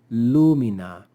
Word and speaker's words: lumina: now the word would be accented on the ante penalt so we would say Lumina Lumina but when we stick